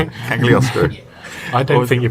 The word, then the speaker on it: Cagliostro: Cagliostro. I don't think you pronounce the G. I don't think you're meant to, because I'm assuming it's Italian, so it'd be Cagliostro.